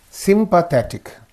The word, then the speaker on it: sympathetic: Sympathetic. Ik is again. So this is the syllable preceding the suffix. So sympathetic. Sympathetic, right?